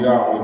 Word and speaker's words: Yahweh: In order to make the Hebrew Tetragrammaton pronounceable Yahweh in English, as it is pronounced Yahweh by the Hebrew speaking people, we as English speaking people, we need the aid of our vowels to make our words pronounceable.